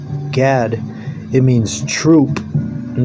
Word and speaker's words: Gad: Gad. It means troop. And the way you say Gad in Hebrew, Gad, that's how you say it in Hebrew.